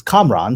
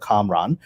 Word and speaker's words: Kamran: Is Kamran, so there's an emphasis on the A's on both sides. Kamran, that's what my mother and my family call me. But since I was a little child, the default reading of it in American culture has been Cameron, because that's a common name.